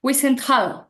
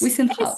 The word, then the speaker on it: Wiesenthal: No quiero pronunciar mal. Sí. Wiesenthal, así debe ser. Es Wiesenthal.